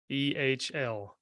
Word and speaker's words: Machamehl: Machamehl. That's it. Man, okay. Yeah, I would like to ask just the craziest pronunciation you've gotten on that?